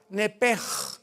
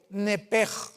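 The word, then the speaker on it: נפש: En el hebreo se pronuncia la S-H como J, nepej. Es la palabra alma en hebreo, nepej.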